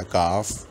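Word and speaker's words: calf: एलएफ से हैं काफ, लेकिन काफ में और हाफ में हम ये बात याद रखेंगे, इसमें एल साइलेंट रहेगा, हाफ साइलेंट, एल साइलेंट रहेगा इसमें, तो ये पढ़ा जाएगा काफ, हाफ।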